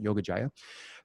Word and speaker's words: Yoga Jaya: He is the founder of Para Impacto, Baseworks, and Yoga Yaya, or Yoga Jaya. How do you say that? Mhm. Jaya, You're good. Hard or J, Yoga Jaya.